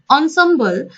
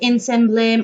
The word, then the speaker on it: ensemble: of this very words please don't bring up pronunciations like insane blame or something like that it should all be pronounced as ensemble things here instruments considered